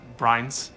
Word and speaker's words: Brains: Mr. Brains, is it? No, ma'am. It's actually pronounced Brines.